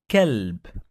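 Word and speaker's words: كلب: Qalb, and another word kalb. Qalb, it means heart. Kalb, it means dog. So pay attention when you pronounce the letter, because you could change the meaning of the word.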